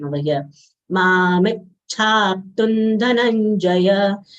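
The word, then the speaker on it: धनंजय: Ma mit Chaptun Dhananjaya. Dhana, both full letters followed by conjunct letter, half nasal ya, full ja, will give stress of half ya over na.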